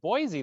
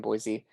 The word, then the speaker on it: Boise: I think I've been saying it Boise the whole time, and I just heard you say Boise. It's right? Boise. It's Boise. Like it's pronounced like the word boy and then the letter C.